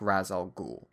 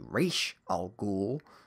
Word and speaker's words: Ra's al Ghul: overhauls of characters, like Ra's al Ghul, whose proper pronunciation should be Ra's al Ghul, but I'm not going there.